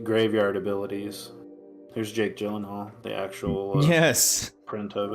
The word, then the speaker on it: Gyllenhaal: Here's Jake Gyllenhaal, the actual Yes.